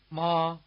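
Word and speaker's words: mā: Since we seldom use highle intonation in English, the high tone may strike you as sung rather than spoken. Try repeating mother after the speaker, taking care to stay on the same high note throughout.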